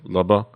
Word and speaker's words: Lubba: If you kind of wanted to know the wordplay on that title, Lubba is how you pronounce it.